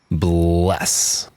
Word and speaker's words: 81355: It's pronounced bless. This is a hip-hop trio from Indianapolis, my home turf. And they spell out their name with the digits 81355, but it's meant to look like the word bless.